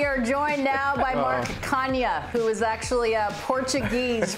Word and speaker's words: Canha: it actually, I mean, if we're going to be technically correct, it's Canha for the Portuguese people out there. They know how to say it, but I'm like third